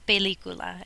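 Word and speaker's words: película: you don't remember movie it is la pelicula Accent on the eye there's another way to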